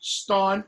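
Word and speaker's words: stān: is the sound that you see in um stana you know i had you i suggested that you take demonstrative pronouns and connect them with the noun and the noun was stan s-t-a-n well that's modern english all becomes all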